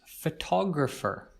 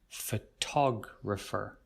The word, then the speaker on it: photographer: that's clearly related is photographer as you can see we also pronounce the second syllable here the tog sound photographer photographer this is a person